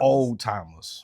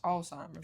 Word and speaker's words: Alzheimer's: Old-timers. Old-timers. I think it's pronounced Alzheimer's, though.